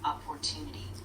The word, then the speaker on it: opportunity: Make sure the stress is on the second syllable, opportunity. If you slow down a bit, that'll help.